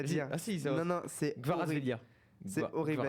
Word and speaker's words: Kvaratskhelia: Vas-y, tu prononces. Non, je le redirai pas, c'est horrible à dire. Ah si, non, c'est Kvaratskhelia.